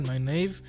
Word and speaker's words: Nynaeve: Okay, so her name, that the way I said was Elmira Nynaeve. This is how you pronounce it. Elmira Nynaeve.